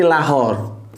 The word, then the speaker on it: Lahore: Kalau yang ini di Lahore akhir-akhir sama akhir seperti bahasa Arab ya tulisannya lahore Tapi bacanya Lahor seperti Allah itu sebetulnya allohu allohu Alloh